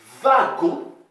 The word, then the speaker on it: wagon: Mais attention, dans le mot wagon, elle se prononce V.